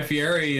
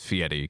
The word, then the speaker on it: Fieri: says his name correctly I've been saying it wrong it's FTI I think he has gone on record saying it's it's fiti cuz he's like Italian so like that's how that's that's how you're supposed to say it in like